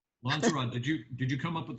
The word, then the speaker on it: Lonzorod: How do you say your name? Lanzarote? Yeah, that's me.